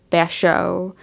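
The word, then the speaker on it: Bashō: writer of haiku poetry bash show I think is how you say his name um I think sometime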